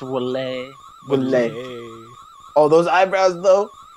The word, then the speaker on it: Wily: It's pronounced Wally.